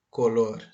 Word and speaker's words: color: Lor Veja a pronúncia color color Pense Comigo Qual é a sílaba mais forte é o co ou lor a sílaba mais forte é Lor isso mesmo então se